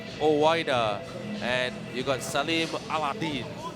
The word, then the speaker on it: Aladin: I broke it up. 2 syllables. Allah and Din Aladin.